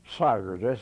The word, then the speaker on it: Sigars: I'm sagres siga rs rhymes with Tigers and I'll be 96